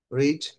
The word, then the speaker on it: read: মেট পে পেট উট রিড এটা উচ্চারণ হবে রেড ঠিক আছে রিডের পাস্ট টেন্সটাও বানানটা একই রাইটিং ফর্মে একই হবে বাট in terms of speaking তখন আমাদেরকে কি বলতে হবে রেড রিং রং সেড সি